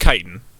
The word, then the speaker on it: chitin: so i want to it's pronounced chitin just so we can establish the pronunciation now um sorry no no